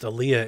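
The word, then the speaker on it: Olija: aaliyah which is spelled elijah but it is pronounced aliyah is the next game from devolver and it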